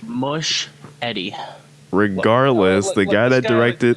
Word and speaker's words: Muschietti: Muschietti? I think it's just Machete. Machete? Andy Muschietti, just like not like Muschietti. I think it's just Andy Muschietti. Mush Eddie.